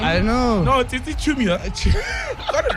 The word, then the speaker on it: Tsitsi Chiumya: Need Is Laugh, this Friday's episode, we have Tsitsi Chiumya. Chiumya, yes, Chiumya, yes. Completely Chiumya. just butchered your name. I know. No, Tsitsi Chiumya. Got it right. Tsitsi Chiumya, yeah.